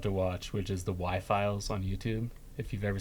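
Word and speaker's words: Why Files: watch, which is the Y-Files on YouTube. If you've ever seen the Y-Files, it's spelled W-H-Y, not the letter Y.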